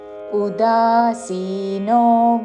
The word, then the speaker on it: ఉదాసీనో: అనపేక్షः శుచిర్దక్ష శుచిర్దక్ష అనపేక్షः శుచిర్దక్ష ఉదాసీనో ఉ హ్రస్వము ఉదాసీనో అని ఊతో పలకకూడదు. ఉదాసీనో ఉదాసీనో గతవ్యథః తా మీద ఆఘాత చివరిలో మహాప్రాణాక్షము థ. గతవ్యథః గతవ్యథః కాదు, అల్పప్రాణతో గతవ్యథః అని కూడా కాదు. గతవ్యథః ఉదాసీనో గతవ్యథః సర్వారంభ రా తర్వాత మాకి మహాప్రాణాక్షము భావత్తు.